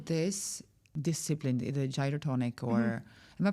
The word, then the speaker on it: Gyrotonic: But how this discipline the gyroonic or am I pronouncing it well? Gyotonic.